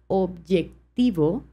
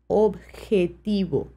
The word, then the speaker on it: objetivo: E et le T d'accord donc c'est pas objectiv c'est objetiv objetiv d'ailleurs je profite pour te parler de